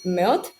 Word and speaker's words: 멋: about today, which is Meot, I think. Yeah. Is that correct? So it's pronounced mot, Mot. like kind of like M-O-T. Yeah, like mot.